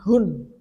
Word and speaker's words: Hund: Nah, untuk pengisian elektron dalam diagram orbital ini kita menggunakan aturan Hund atau Han ini ya bacanya ya.